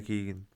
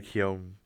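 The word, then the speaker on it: Keoghan: Me obviously Costa, Paul Mescal and Barry Keegan or Barry Keown. Not sure how to pronounce his name yet. I think it's Barry Keegan.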